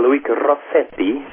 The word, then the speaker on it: Luigi Rossetti: Luigi Rossetti, to be pronounced with a thick Italian accent, although he's actually from Switzerland.